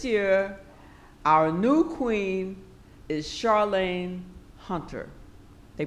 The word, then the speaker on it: Charlayne: heard and this year our new Queen is Charlene Hunter they pronounced my name right which a lot of